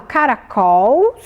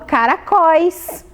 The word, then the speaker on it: caracóis: Será que eu falo caracols ou caracóis? Ah, eu falo caracóis.